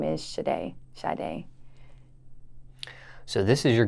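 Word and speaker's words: Sade: shade is her favorite singer so she chose shade as my middle name now shade the singer her name is spelled s-a-d-e yes why did she spell it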